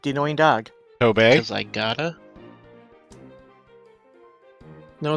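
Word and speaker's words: Tobey: Toby. Cuz I gota No, it's pronounced Toby.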